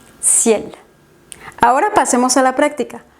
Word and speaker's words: ciel: final u otras palabras en las que se pronuncie la consonante final. Soif, ciel.